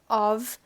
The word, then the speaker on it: of: Aqui vai juntar porque of a gente pronuncia com som de V. Ov.